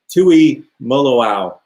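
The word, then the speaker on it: Tuimoloau: to ohio state and i'm going to have to learn how to pronounce his name i think it's tui moloau there it is tui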